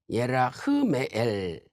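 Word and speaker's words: ירחמאל: 히브리어로는 예라흐메엘, 예라흐메엘.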